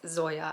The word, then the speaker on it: Zoya: Zoya stage I finally figured out how to say her name and it's Zoya I'm an idiot so